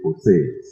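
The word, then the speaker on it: José: And they said, "Yeah, that's how we spell it, but we pronounce it Jose, San Jose, Sanjose, San Jose."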